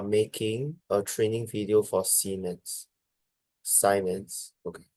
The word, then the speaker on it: Siemens: At the moment, we are making a training video for Siemens. Okay. Siemens, not the sperm. Wow. The Siemens, another pronunciation Siemens.